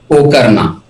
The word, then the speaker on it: Pokarna: पोखरण बोला जाए, पोकरना बोला जाए, क्या बोलना चाहिए? पोकरना। पोकरना, ओके।